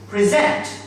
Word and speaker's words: present: trainer, trainer, trainee, trainee, present, present, present, used as verb, okay? Present, when it is used as a noun or adjective, it is pronounced present, present.